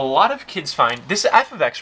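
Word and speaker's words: f(x): example of function notation you pronounce this guy right here f of x so you would say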